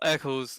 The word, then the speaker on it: ec1s: Everyone's been pronouncing ec1s, but we can now finally say that it's ec1s, correct? Yeah, it's ec1s.